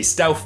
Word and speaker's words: Stauf: Stauf Faust. Because Faust sold his soul to the devil, and so did Stauf.